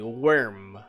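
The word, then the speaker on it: wyrm: worm yeah but like it's the worm with the y you know um worm with a y worm it's pronounced the same way as a worm you know the magma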